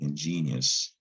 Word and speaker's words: ingenious: case it's pronounced well ingenious it's pronounced like genius the i o u